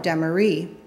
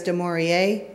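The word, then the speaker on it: Dimorier: And even though it was spelled D-I-M-O-R-I-E-R, everyone pronounced it Demery.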